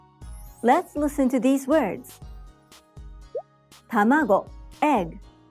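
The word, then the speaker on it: たまご: Each syllable is pronounced with either a high or low pitch. Tamago, sakana. The pitch accent for each word is determined when said in isolation. So, if you pronounce it in a different pitch, such as tamago, it sounds strange.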